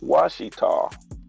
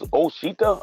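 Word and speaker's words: Ouachita: Even the way they spell Washita. Because you think like, oh, what is this? You think this is Oshita or whatever, but it's spelled the French way with O-U-I.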